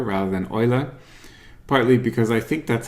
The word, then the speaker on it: Euler: streets adage and so if you would ask a german-speaking person how to pronounce his name they would say something like Euler there are two reasons